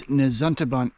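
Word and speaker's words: Nesuntabunt: later okay appalachin Trail nantun mountain yeah I think I was mispronouncing it it's nantun Mountain elevation 1560 very good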